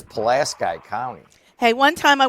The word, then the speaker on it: Pulaski: And we have to decide how to pronounce that. I'm pretty sure it's Pulaski County.